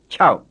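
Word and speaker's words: ခြောက်: after the tape and another word that ends in a glottal stop ciao that's the burmese for six and it rhymes closely with the english word shout but remember it's got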